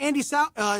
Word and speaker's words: Andey Samhain: on the phone right now, we have Andey Samhain. Is that Andey Samhain? Is that correct? Is that how you pronounce it? Yes, that is correct.